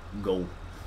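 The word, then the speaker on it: Gault: his last name is go so you don't pronounce the T or anything like that so anyways thanks tubby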